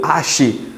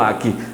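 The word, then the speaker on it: arché: Algumas pessoas pronunciam ache, mas o correto em si é o aqui, onde eu tenho diversas maneiras de se escrever também.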